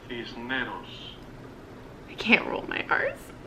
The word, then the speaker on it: Cisneros: So you pronounce the S, basically. Cisneros. I can't roll my R's. Cisneros.